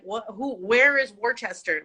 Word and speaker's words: Worcester: Well, I was born in Worcester.